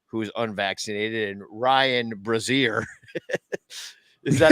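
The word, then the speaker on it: Brasier: like Tanner Houck, who is unvaccinated, and Ryan Brazier. Is that how you say his name? Brazier? Yes, Brazier.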